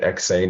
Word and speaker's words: Eksayn: website that's spelled e-k-s-a-y-n you say it exain and you said it